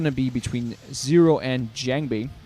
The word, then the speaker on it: JangBi: be between zero and jangi or jangi if you prefer to pronounce it correctly in the Korean way it's going to be